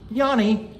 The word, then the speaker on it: Iannis: this what his name is i-a-n-n-i-s which is pronounced Yanni what he's from Northwest Jersey he's from Newton